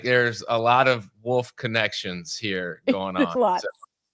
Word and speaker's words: Wohlfort: It's pronounced Wolf, right? And I was like, yes, it actually is.